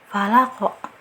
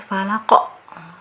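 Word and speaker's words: الفلق: nah kebanyakan Harusnya kan pembacaan alfalaq ini hanya pala kok pala kok Nah tapi terkadang diakhiri dengan bunyi tekan ditekan sekali Falah kok Falah kok Nah gitu yang harus dihindari ya sebab banyak sekali pengucapan huruf-huruf Qalqalah itu diakhiri dengan tekanan nah tekanan itu dikarenakan diberi tambahan Hamzah di sini nah itu yang keliru ya jadi ujungnya jangan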